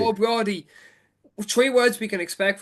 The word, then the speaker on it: Ó Brádaigh: Yeah, and O'Brothy. O'Brady.